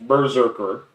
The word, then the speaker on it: BRZRKR: done some cool stuff so berserker pronounced berserker obviously is described as a